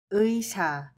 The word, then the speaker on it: 의사: Together, this is a word uisa, which means a doctor.